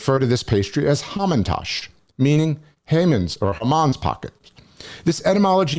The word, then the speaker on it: Haman: holiday of purim and the hebrew name haman pronounced in some yiddish dialects as hamon sounds a lot like moan german for poppy seeds the biblical villain homan